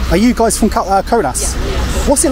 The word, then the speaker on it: Kaunas: thank you so much is this place called konas or conas conas I've been asking a few people because like the pronunciation is different yeah it depends where they come from ah right and